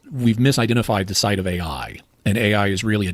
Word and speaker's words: Ai: city is called Ai and it's not spelled AI I think it's spelled a a i e e or something